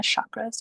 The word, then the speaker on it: chakra: I drew mine like this because I love the chakra system, the chakras, but it's actually pronounced chakra.